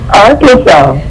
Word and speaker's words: Arkansas: I don't see a r a n a w, you know, Arkansas. I see a s or Kansas. So, what is the proper way to say it? Arkansas.